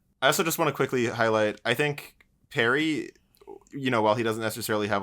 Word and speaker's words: Perry: They said Perry rhymes with Mary, so we'll make that